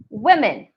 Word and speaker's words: women: So you say wiggle, filter, silly, women. So the O there is actually a short I sound.